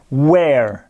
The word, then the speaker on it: were: huawei ou en anglais regardez bien la prononciation were were il est suivi par